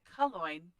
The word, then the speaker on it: Calongne: known as Calongne. Yep, it rhymes with coin.